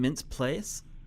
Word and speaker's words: Mintz-Plasse: Mintz-Plasse.